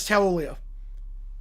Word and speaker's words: Taulia: Pronunciation guide is Taulia. It's 4 syllables on the pronunciation guide.